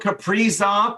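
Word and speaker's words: Kaprizov: is a lot of top end candidates karil caprizov that's how he wants his name pronounced wow okay off the board yep he'll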